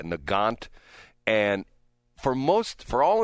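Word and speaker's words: Nagant: This is a Russian rifle called, I believe it's uh it's spelled N A G- A N T, a Nant.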